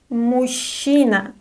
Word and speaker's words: мужчина: Мужчина, мужчина. Pay attention to the pronunciation. Ж-ч is pronounced as sh. Мужчина.